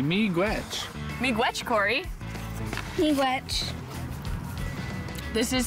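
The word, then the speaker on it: miigwech: thank you in ojibwe we say me gretch me gwetch cory me witch this is so good this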